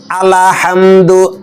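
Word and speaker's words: الْحَمْدُ: খায় বলেন আলহামদু আলহামদু এই ভুলটা খুবই সূক্ষ ভুল যাদের পড়া সহি আছে শুদ্ধ তারাও এই ভুলটা করে ফেলে আলহামদু এরকম কলকলা করে ফেলে এবং লামে জবর এসে যায় এখানে আলহামদু আলহামদু আলহামদু লামের উপর কি জবর না সাকিন বলেন তো সাকিন সাকিন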